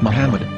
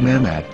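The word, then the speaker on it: מחמד: a after the h according to ben yehuda's hebrew english dictionary it is correctly pronounced as muhammad not mehmed so how we're going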